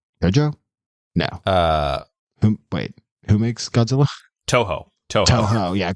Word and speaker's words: Toho: I mean, unless you're a big Tojo fan. Tojo? No. Who makes Godzilla? Toho. Yeah, Tojo is someone else. You're adding like a Spanish J onto the pronunciation. Yeah, Toho.